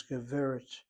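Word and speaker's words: גבר: Notice where the accent is on the first syllable, not on the last. Why the first syllable? Because giver has a short single open syllable. Irregular. Needs to be accented.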